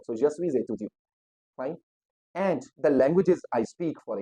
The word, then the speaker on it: et: A means and. The spelling of and is et, means the word et means and. Okay, a, and the pronunciation is a.